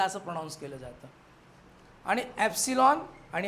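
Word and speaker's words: epsilon: मिळेल double L असेल तर ठीक आहे पण एप्सिलॉन समजलं का याला अस प्रोनान्स केलं जात आणि एप्सिलॉन आणि हा नड एप्सिलॉन न ठीक ना मग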